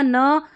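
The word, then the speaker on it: knee: फिर देखिए के एन को न पढ़ेंगे, क्योंकि देखिए के एन को न इसलिए पढ़ा क्योंकि के साइलेंट है, नाइफ और नी, ये साइलेंट वाला हो गया।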